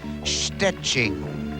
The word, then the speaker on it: Szczecin: Perhaps if only to teach people how to pronounce the name of her hometown in Poland. It's Szczecin.